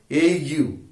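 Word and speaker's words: ague: and a u disclosures a g u e pronounced a u a u a u is a shivering shivering this is some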